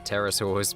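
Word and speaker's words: pterosaurs: They're terasaurs. P is silent and they're not dinosaurs.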